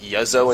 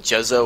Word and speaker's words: Juzzo: your face without realizing your name is yozo instead of jezzo or jizzo that's fine why is it